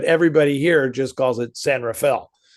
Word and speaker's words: San Rafael: Well, because you pronounce it San Raphael and everybody everybody who's born here calls calls it San Rafale. Oh yeah. Uh it's just funny. I mean, Raphael is not incorrect, but everybody here just calls it San Rafale.